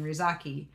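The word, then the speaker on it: Ryuzaki: The origin of L's fake name, Rizaki. It's just because L in Japanese is pronounced like R, and that's really all there is to it.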